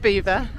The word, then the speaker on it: Belvoir: It's pronounced Beaver. Beaver Ride.